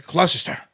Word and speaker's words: Gloucester: They're like, it's not Gloucestershire, it's Gloucester. So I'm just gonna go with Gloucester when I come around.